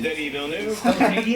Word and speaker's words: Denis Villeneuve: It is Denis Villeneuve. Mine looks like Penis Villeneuve, but it was, Pronunciation.